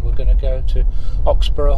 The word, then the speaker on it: Oxburgh: going to go to oxborough hall that's how you pronounce it don't normally well i think it's like edinburgh yeah you wouldn't say edinburgh no no so it's just